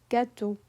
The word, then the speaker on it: gâteau: French has a hard and soft rule for the letter G. If G is followed by A, O, or U, it makes a hard G sound, just like in English. And if G is followed by E, I, and Y, it softens into that J sound.